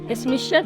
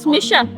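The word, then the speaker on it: Is mise: Ismisha, Tawassul. It's like in Arabic we say Ismi, Tawassul. In Yemen we say Ismish. Ismish? Oh. Ismish. In Irish it's Smisha, right?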